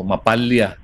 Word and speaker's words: MAPALLA: tawagin po nilang map mapala o mapala Depende po sa inyong pronunciation double l po kasi ano mapala Matatapos